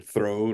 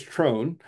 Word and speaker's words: TROHN: may have heard it be called Tron or Throne or Thorn In some cases but it is trone is the correct pronunciation um and what trone is is the